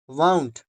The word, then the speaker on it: wound: इसकी आवाज आपको निकालनी है पाउंड, तो that means वाउंड, WOUND, वाउंड, वाउंड, पाउंड, ठीक है।